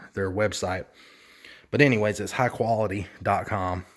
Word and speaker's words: Hykolity: out to a company by the name of high quality lighting and the name is spelled a little bit different its hy kol ity I'll put a link